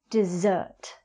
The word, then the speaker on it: dessert: Well, if you think to yourself, I deserve dessert.